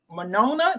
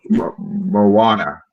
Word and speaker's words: Moana: you know the Disney movie, the one that just came out about the South Pacific, Monona, did I say it right? Mono too. Moana.